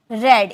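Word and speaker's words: read: मैं पढ़ा था, आई हैड रेड। इसे रेड में प्रोनाउंसिएशन करेंगे क्योंकि रीड फर्स्ट फॉर्म है, सेकेंड और थर्ड फॉर्म रेड हम बोलते हैं।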